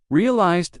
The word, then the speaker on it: realized: Realized that one has which ending? If you said D, you're correct.